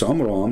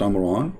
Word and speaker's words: Amram: It's Amram, not Amran, but idiot, as what you say, is the father of Moses.